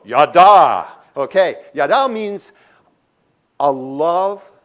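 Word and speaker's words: ידע: Because the word that is used there in the Hebrew is the word yada. Say it with me, yada. Say it like with some gusto, yada.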